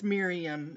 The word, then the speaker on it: Mirjam: Yes, it's Miriam. It's spelled Mirjam, and we call her Muriel only because it's just funny.